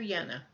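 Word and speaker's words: Jehne: of restoring our soils his last name is spelled j eh H NE e Walter yenna all right I'm going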